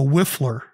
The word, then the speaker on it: whiffler: So don't get upset if I'm a little bit of a whiffler today. W-H-I-F-F-L-E-R. 2 syllables, so Justin's got a chance. It's a noun.